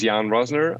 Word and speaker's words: Jan Roessner: your name one more time i will not pronounce it my name is jan rosner i'm the co-founder and ceo of one earth